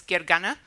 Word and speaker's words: Gergana: first let me introduce myself my name is Gary gana but I usually go by because that's a little bit easier to pronounce I recently became a Microsoft MVP in